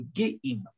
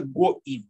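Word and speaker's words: גּוֹיִם: Вот интересно, что написано как бы «геим», что означает «гордые». И это намек на... посмотрите сами. Я хочу вас заинтриговать, да? Кто это имеется в виду? Но читается «гоим».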